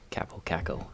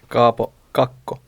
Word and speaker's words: Kaapo Kakko: I'm excited to see Capo Caco. Yeah. Or sorry, Mika, how do we say it? Kaapo Kakko.